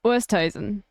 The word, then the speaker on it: Oosthuizen: She's probably going to post a TikTok about how to pronounce her surname. It's Oosthuizen.